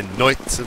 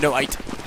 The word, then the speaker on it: Noit: I'm not going to actually say Noit, but I just did, so I lied. No-ite. Anyway. No, you said 1 syllable. Oh, I didn't Nick do that. Noite, but as 1 syllable. Noit.